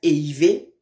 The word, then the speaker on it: ehiver: Donc, le verbe éiver, c'est E-H-I-V-E-R. Le verbe éiver. Vous voyez comment on prononce ça, non?